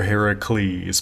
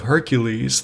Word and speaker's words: Hercules: might have to agree it's hercules or heracles but we're gonna use the latin pronunciation hercules through this because the most iconic image of hercules that i think we